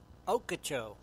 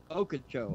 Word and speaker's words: Ochoco: I wonder how do you pronounce that, Tim? Ochoco. Ochoco.